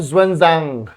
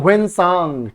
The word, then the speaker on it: ह्वेनसांग: तो बच्चों का जवाब आ चुका है ए ह्वेनसांग ठीक है चाइना में तो इसका नाम है ज्वेनजांग ज्वेनसांग अपने यहां पे बोलते हैं ह्वेनसांग ठीक है ह्वेनसांग एस साइलेंट है ह्वेनसांग तो भैया हर्षवर्धन